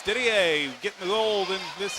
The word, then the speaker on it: Didier: I like to put the French pronunciation on it. Didier, 111.18 is Lindsay's time.